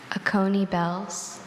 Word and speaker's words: Oconee bells: Oconee bells. Oconee bells. Oconee bells, can you repeat all the information? Oconee bells has no alternate pronunciation, just Oconee bells.